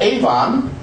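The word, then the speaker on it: עון: It's the word avon. Avon, but it's spelled the same way you would say avon. Avon calling. It's a o.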